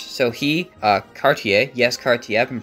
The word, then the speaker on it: Cartier: for extra cash so he uh Cartier yes Cartier I've been pronouncing his name wrong up until now shut